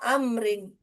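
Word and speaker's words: عمرو: hua liamrin la ma amrin amrun amran amrin Syukran mafit sudah paham sekarang? Insyaallah, Ustaz. Jadi kalau ada huruf wau berarti Amr dia ya, Om. Nam. Kalau tanpa wau dibaca ee umaru.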